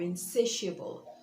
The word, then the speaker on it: insatiable: instance human beings are insatiable so not human beings are intractable insatiable so notice that stress is on the second syllable say in satiable okay